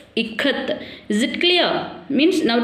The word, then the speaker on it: ikat: I, how to pronounce here I as E. Here E. Okay, next Kamala. How do you pronounce K here? K, Ka. Okay, then how do you pronounce TH? T, Ikat.